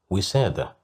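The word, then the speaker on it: وسادة: Wisada, which means a pillow. Here we have kasra, so that's why we pronounced it as we.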